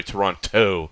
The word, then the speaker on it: Toronto: Like Toronto, you don't pronounce the T at the end unless you're from out of Toronto.